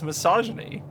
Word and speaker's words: misogyny: no you just like really emphasized the the syllable because you were talking about no that's exactly how you say it it's misogyny no it is misogyny but you like you